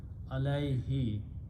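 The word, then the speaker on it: عَلَيْهِ: It does not change the who, but in the tajweed only recitation, we pronounce who as he. Alayhi means upon it, or upon that, or of that.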